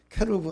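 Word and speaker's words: כרוב: 정확하게 히브리 발음은 케루브 하는데 케루브 하니까 그룹인갑다라고 생각을 한 거예요.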